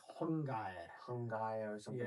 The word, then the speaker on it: Xiongnu: Well, Xiongnu Xiongnu is the way that it's pronounced currently. Okay. Um it was probably like Hung-ga-ya.